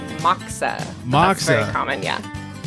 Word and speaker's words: Moksa: Am I saying it right? Moksa? It's Moksa.